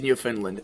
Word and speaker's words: Newfoundland: haven't cracked it before i think it's pronounced finland okay yeah i just checked it is new finland so um apologize if